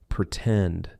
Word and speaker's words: pretend: For example, in the word pretend, the stressed syllable starts with T, T-tend, pretend, right? So we are going to use the true T sound, and then we can